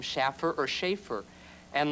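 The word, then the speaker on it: Shaffer: But I just thought, well, maybe if you spell it that way, people will pronounce it Schaffer instead of Schaefer.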